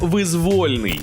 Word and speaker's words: визвольний: тому правильний варіант саме визвольний визвольний визвольний визвольний визвольний визвольний зафіксували на початку X століття в Україні був визвольний рух наголос на о визвольний продовжуємо екзамен іноді люди